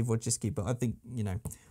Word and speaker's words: Wojcicki: I hope that is actually how you say it, because if you were to read that in Polish, it does say Wojcicki, but I think, you